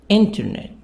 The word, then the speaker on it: internet: Internet. Message. The stress here on the first part, on part number 1.